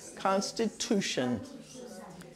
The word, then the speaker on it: Constitution: You have to do two sounds, S and T. Sti. Sti-tu-shun. Constitution. Constitution.